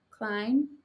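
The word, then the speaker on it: Kleon: I think he pronounces his last name Klein. Could be wrong.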